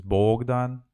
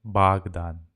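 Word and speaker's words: Богдан: baghdan is my child my child's name is Bogdan I write always Bogdan but I pronounce it Baghdad so oh sometimes it's pronounced like a and it's hard to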